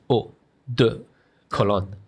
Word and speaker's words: eau de cologne: You don't say O with a round sound. It's just eau de cologne. Yeah, just make it flat.